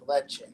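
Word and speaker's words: Lecce: way you're saying but it's pronounced like leche that's right yeah yeah yeah yeah and I went to aoni and then I went to leche yeah yeah yeah and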